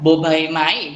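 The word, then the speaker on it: บ ใบไม้: Ya, bobaimai dibaca dengan bunyi B, dan kemudian ada kategori konsonan P.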